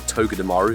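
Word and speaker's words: Togedemaru: that will be bringing Shining to dearu or togga dearu if you want to properly pronounce it coming to the game July 25th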